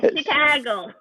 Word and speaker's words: Chicago: Yeah, Chicago. That's how you say it when you live there, you know.